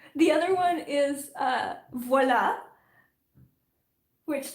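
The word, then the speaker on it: voilà: and like if you they'll say voila like voila like um no no it's voila and then yeah yeah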